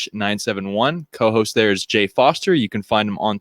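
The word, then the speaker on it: Forster: co-host there is Jay Foster you can find him on Twitter at underscore Jacob with a k f o r s t e r that R is silent I don't know it's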